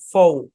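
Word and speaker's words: faux: আমরা পড়ি যেমন দেখেন এফ এ ইউ এক্স এখানে এক্স টা সাইলেন্ট এ শব্দের উচ্চারণ হচ্ছে ফৌ বাংলায় এরকম ফৌ হ্যাঁ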